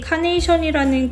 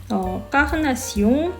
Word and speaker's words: carnation: 흔히들 이 말이 카네이션이라는 꽃의 색으로부터 만들어진 단어라고 생각해서 빨강색으로 더 많이 알려진 카네이션을 왜 핑크색과 결합시키는지 의아해 하시는 경우가 많은데요. 살색 혹은 혈색을 뜻하는 말인 까흐나시옹, 영어로 발음하면 카네이션이라는 단어를 예전에는 핑크를 대신해서 분홍색을